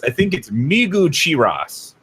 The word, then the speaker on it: Migucheras: And I think it's Migucheras is the correct pronunciation, Rhino.